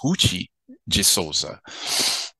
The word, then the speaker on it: Ruth de Souza: to find out that her name is actually pronounced hoochie jesusa now funny thing is you know when I